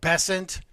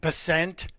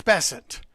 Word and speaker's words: Bessent: And Just before we went on the air, Scott Bessent, the Treasury Secretary, whose name is pronounced Bessent. Can everybody stop saying Bessent? It's Bessent.